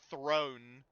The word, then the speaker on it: thrown: Thrown. T H R O W N Looks like it rhymes, but it doesn't.